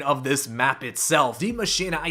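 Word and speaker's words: Die Maschine: of this map itself the machine i say it that way because that is as close as i can get to the original german pronunciation for this map name it's not said d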